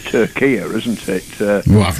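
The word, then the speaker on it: Türkiye: um Tura election because now it's pronounced it's the new name is Tura isn't it well I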